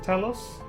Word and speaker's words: Talos: Leon, dost thou see yonder pair of Talos? I think you can pronounce it Talos or Talos, either way, because in a different video game they pronounce the same exact word, Talos.